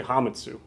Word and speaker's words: Hametsu: You guys have been pronouncing it wrong this whole time. It's actually Hametsu.